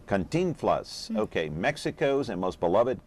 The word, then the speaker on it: Cantinflas: okay so uh and what's the correct uh pronunciation there cantinflas cantinflas okay mexico's and most beloved comic film star